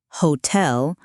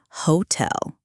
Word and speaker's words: hotel: Hotel, hotel, not hotel.